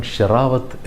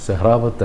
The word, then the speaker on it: സെഹ്റാവത്ത്: വിജയിച്ചു എന്നാണ് പത്രം എഴുതിയത് ഒരു പത്രം അമൻറെ പേര് അമൻ ഷറാവത്ത് എന്ന് എഴുതിയിരുന്നു മറ്റു പത്രങ്ങൾ സെഹ്റാവത്ത് എന്ന് എഴുതിയിരുന്നു ആ പേര് ശരിക്കും സെഹ്റാബത്ത് തന്നെയാണ് പെട്ടെന്ന് ഇംഗ്ലീഷിലുള്ള ആ സ്പെല്ലിംഗ് കണ്ടിട്ട് ഷറാവത്ത് എന്ന് തോന്നി എഴുതിയതാവാം ഇങ്ങനെ പേരുകൾ തെറ്റിക്കുന്നത് വ്യക്തികളുടെ കാര്യത്തിൽ